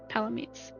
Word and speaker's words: Palamute: Palamutes.